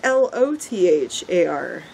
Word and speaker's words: Lothar: Well, it's L-O-T-H-A-R. Yeah, Lothar. Lothar? Yeah, O can't be pronounced O at all.